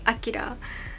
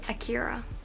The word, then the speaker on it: Akira: The Japanese pronunciation is Akira. I guess Western pronunciation is Akira.